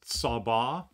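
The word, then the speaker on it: צבא: The underlying Hebrew word here is sabbah. If you're taking notes, that's spelled S-A-B-A, sabbah.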